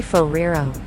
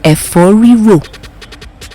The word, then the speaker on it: efo riro: you call today's recipe it's called a Ferrero the correct pronunciation is F4 rewrote I can't pronounce that